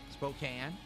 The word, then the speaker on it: Spokane: Spokane. That's weird. They they spell it with a E at the end because that would make it imply that the A is a full A, but it's not.